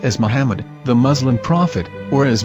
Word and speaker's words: מחמד: According to Ben Yehuda's Hebrew English Dictionary, it is correctly pronounced as Muhammad, not Mamad. So how we're going to know for sure if it's pronounced as Muhammad, the Muslim prophet, or